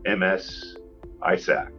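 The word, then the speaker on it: MS-ISAC: In the case for local and and uh state governments, they've got the MS ISAC. That's what that's MS Isac. That's how you say it.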